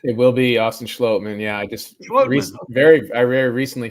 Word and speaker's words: Austin Schlottman: It will be Austin Schlottman. Yeah, I just very recently found out how to pronounce his name, so no worries there.